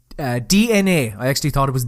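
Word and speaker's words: DeNA: up with a mobile game developer called uh DNA I actually thought it was D now when I first saw it but it's apparently pronounced DNA and Nintendo are venturing into the smartphone and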